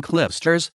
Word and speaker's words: Clijsters: qiyam Antony load Cloisters Dutch pronunciation kin cliff stirs listen born June 8th 1983 is a Belgian former professional tennis player cly stirrers was a world number